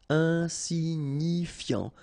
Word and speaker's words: insignifiant: Okay, final T not pronounced, so you've got this I-A-N, ian, so F before, fiant. Insigni, okay, remember, G-N-I, ni, ni, insignifiant. Insignifiant.